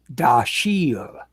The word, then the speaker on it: Dashiell: Dashiell was an Americanized spelling of an old family name and was pronounced Dashiell.